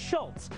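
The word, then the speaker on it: Schulz: last name correctly alfons people always want to throw a te in there because it's pronounced Schultz but I always tell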